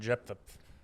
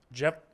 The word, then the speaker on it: Japheth: Ham, Sham, and Jephthah.